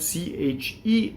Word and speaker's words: che: H is silent in Italian. It's there to make the, C-H-E is K, it makes the C hard, right? And so if it were C-E, it would be che, and in this case, because it's C-H-E, it's K.